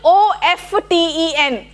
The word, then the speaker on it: often: Okay, today for example OFTEN, Often. it's pronounced as often now. Often, that is a change. Ante mundu nunche maybe it was often. No, it's often now.